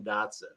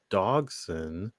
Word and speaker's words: Dodgson: if he's that same Dotson. I got the IDMB pulled up. I'm gonna say no on that because it's Dodson. That his character's name is Dodson, which is DODGSON, as opposed to DOTSON.